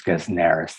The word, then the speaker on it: Gesnerus: And that consonant, that S is voiced, it loses its unvoiced quality because it's next to a sibilant, and it becomes Gesnerus. The accent is on the antepenult and so on.